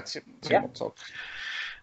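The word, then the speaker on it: Timo Tolkki: And last week we had Timo Tolki on, right? That's how you say his name. Yeah, Timo Tolki.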